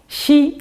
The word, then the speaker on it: shchi: Shchi is pronounced like she. But for some unknown reason, when Russian words get transliterated into English, they gain a whole bunch of silent consonants.